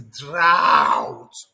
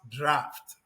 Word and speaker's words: draught: I know some of you will look at it and say, this is drought. Drought, as if you want to swallow me. No, that is not pronounced drought. It is pronounced draft.